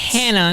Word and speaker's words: Hannah: name is hannah and that's how we pronounce it here in the states in the states hannah not honor hannah hannah and they say hannah hannah hannah like it's h-a-n-n-a-r hannah i don't wanna i'm